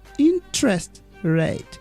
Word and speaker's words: interest rate: interest rate yes okay interest rate interest rate it's a compound noun so we stress the first word interest rate yes and